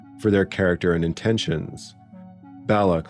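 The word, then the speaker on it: Balok: Fun fact, his name is pronounced several different ways in the episode, but Belloc is the preferred pronunciation.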